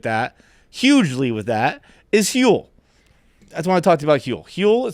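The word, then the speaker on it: Huel: hugely with that is hule that's want to talk to about hu hule it's spelled hu L like fuel but with an H uh it's a complete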